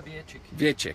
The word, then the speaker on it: Wietrzyk: We are back live again with Christoph Weber, race director, and Jürgen Wietrzyk. Did I pronounce that correctly? Yeah, it's good. Yeah. Yeah. How do you say it? Yeah, Wietrzyk. Wietrzyk.